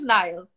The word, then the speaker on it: Niall: so is it niall like like the river in egypt so you can always just go with nile okay so it is nile okay okay i was